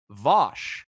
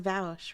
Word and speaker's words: Vaush: specifically, that would be Vosh. To be completely honest, if I'm completely I honest, hear it's pronounced Vaush, right?